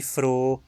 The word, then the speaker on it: froh: Preste atenção na diferença de pronúncia entre Frau, mulher, e froh, alegre.